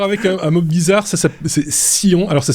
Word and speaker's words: Scion: Alors, ça s'écrit S-C-I-O-N. C'est un sujet suisse. Et comme disait Sébastien en off, on aurait pu dire Skion, parce que ça aurait du sens aussi. Mais non, c'est Scion.